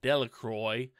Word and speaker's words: Delacroix: Jones and Dicky Delacroix the villagers pronounced his name Delacroix eventually made a great